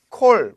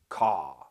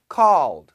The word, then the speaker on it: call: 아니고 사진 찾아보세요 AW 바음 신경쓰세요 AW AW 바음 제가 W 발음할 때 항상 이런 표시로 해요 trle 왜냐면이 모양 이런 식으로 상상해이 모양 혀도 밑에 코 아니고 거 아니고 혀 밑에 call call 누구누구 전화왔어 he call